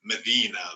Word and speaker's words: Mdina: it on there but m d-i-n-a so medina but it's been pronounced in a more in north african way and of course the